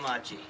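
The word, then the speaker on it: Maciej: My real name is Kyle Machi. How do you spell that?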